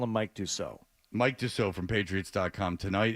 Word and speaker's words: Dussault: How do you pronounce his name? Last name? Mike's name. Your friend. Dussault.